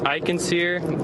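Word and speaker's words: Eichensehr: Iikensir. The last name is spelled E I C H E N S E H R.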